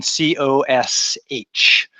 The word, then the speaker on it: cosh: The abbreviated name of this sucker right here is the hyperbolic cosine, COSH, pronounced cosh.